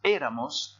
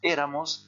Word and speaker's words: éramos: donne era, eras, era, éramos, erais, eran. Je répète, ser, era, eras, era, éramos, erais, eran. Alors vous prenez bien votre élan ici parce que c'est ce E-là qui est prononcé plus fort.